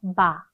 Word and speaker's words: bas: 남성형 읽어볼게요. bas, bas. S 발음 안 하고요.